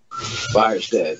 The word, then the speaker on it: Virastan: It's called Virastan. Did I say it right? Virastan.